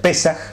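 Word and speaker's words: פסח: palabra Pascua viene de una palabra hebrea que se pronuncia pesaj y que significa pasar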